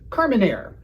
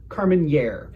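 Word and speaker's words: Carménère: It's Carmenere, not Carmenere. If you say nye and you're not a cartoon Russian, you're saying it wrong.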